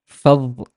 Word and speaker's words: فظ: And this one is فظ, فظ, فظ.